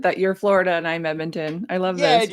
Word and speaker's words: Edmonton: actually in Edmonson Ed how do you say Edmonston no Edmonton Edmonton oh there's no s no oh okay uh